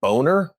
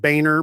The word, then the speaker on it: Boehner: Is it when John Bonier? what do we, who's this cat? Call him Boner, man. Call him Boner. Who is that guy again? He's a boner. Who is that guy? I'm Just pronounced Boehner, but yeah.